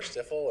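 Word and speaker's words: Stifel: Um some people say stifle or stifle and that's totally fine, but Stifl is the word. It's a German pronunciation.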